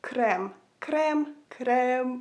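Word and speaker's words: крем: say cream in Ukrainian it sounds so similar you would say it like crem crem crem and yeah guys thank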